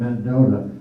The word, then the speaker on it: Mendota: Mendoza came from uh it might be anglo's mispronouncing Mendota don't know how that came about but the USGS likes Mendoza people around here call it Mendota now there's two other